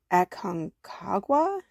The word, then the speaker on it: Aconcagua: Giant Aconcagua pepper.